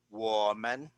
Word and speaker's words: 我们: 我们 Repeat with me.